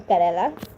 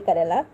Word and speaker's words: Kerala: had seen videos from Kerala. I know I pronounced that bad. People have tried to correct me to pronounce Kerala good. I can. This is it, okay, Kerala.